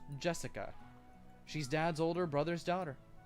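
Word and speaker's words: 朱志香: Anyway, it is pronounced Jessica.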